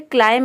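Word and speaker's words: climb: अगला है क्लाइम यानी कि चढ़ना। यहाँ पे देखिए बी लेटर साइलेंट है। क्लाइम में जो लास्ट में बी लेटर आता है वो साइलेंट रहता है, केवल हम प्रोनाउंस करते हैं क्लाइम।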